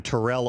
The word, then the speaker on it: Terrell: got to San Francisco he decided that he wanted to be Terell and pronounced the first syllable of the name so for years throughout history it was always Terrell everybody was Terrell nobody